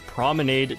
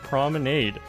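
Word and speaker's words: promenade: I've said the word prominade twice now.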